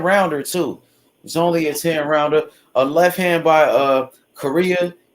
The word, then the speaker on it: Coria: I think it's Korea. That's how you say it.